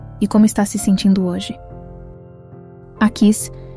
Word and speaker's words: Aquis: Originalmente, antes da influência do aramaico sobre o hebraico, o nome Aquis provavelmente era pronunciado como Aquish.